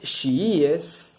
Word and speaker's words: chiíes: Por otro lado, los chiíes, S-H-I-I-E-S, las dos I latinas, chiíes, tiene el acento en la segunda I, que son los partidarios de Ali, ¿sí?